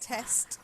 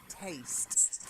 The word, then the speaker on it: taste: Again, this A sound. So not test, taste.